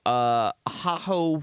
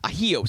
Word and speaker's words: ajillo: And then a spicy ajo soup. I'm not pronouncing that right. Ajillo soup. Ajillo.